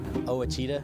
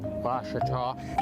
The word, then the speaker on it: Ouachita: by Taylor King law I've heard people say oh a cheetah oh Wichita oh a cheetah is it pronounced oh Akita searching for Washita Baptist University back in Texas everybody pronounces it Wichita but really it's Ouachita Ouachita Washington how would